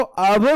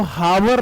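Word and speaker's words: hour: okay अगला मेरा word इसको आवर बोलते हैं मेरे भाई इसको हावर नहीं बोलते एच इसमें साइलेंट होता है तो इसको मैं पहला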